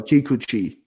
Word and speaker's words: Kikuchi: It's probably Kikuchi. Yeah, it's probably Kikuchi. You gotta hit all the vowels real hard.